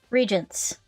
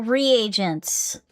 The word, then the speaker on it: reagents: I should know this but how do you pronounce that the second word regents? I thought the regents put simply they're using experiments to bring about a chemical reaction. Oh, reagents.